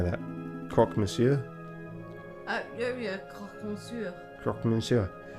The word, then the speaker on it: croque monsieur: Yeah, croque monsieur. Croque monsieur. It's a hot sandwich. Cheese, ham, a little bechamel. Throw on some peppers if it's a Friday night. No, croque monsieur.